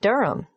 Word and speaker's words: Durham: at one euronga Street Durham how do you spell Durham d-u-r-h-a-m of course I should know that but it's just one of those names that sounds quite different from the way you spell it it is confusing I've